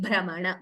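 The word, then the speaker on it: भ्रमण: Samsara brahmana, bha is doubling.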